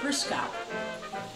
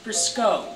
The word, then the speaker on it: Briscoe: "You are Kate Briscoe." Kathy winced at the mispronunciation. "It's Briscoe with the long O, and obviously it's not Mr.